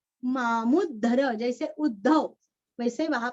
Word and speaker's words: मामुद्धर: त का उच्चारण चित्त लय और विसर्ग का उच्चारण आधा स चित्तलयस् सदा भवतु तुरस्व भवतु मे भो राम मामुद्धर मामुद्धर मूरस्व और यहाँ पे मामुद्धर जैसे उद्धव वैसे वहां पे मामुद्धर रामान्नास्ति परायणं